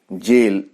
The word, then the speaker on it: gaol: प्रकृत रे यह एक जेल एक कारागार एठारे आमे शब्दटी को देखिबे GAOL एटा होछि एक प्राचीन शब्द आजिकल व्यवहार हो नहीं बोली करी वर्णना करा जाउछि प्राचीन शब्द एवं यार प्रोनाउंसिएशन होछि जेल एवं अर्थ मध्य जेल